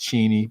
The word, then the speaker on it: Cheney: it's this is a cheney but it's actually pronounced cheney but it's like uh what um the point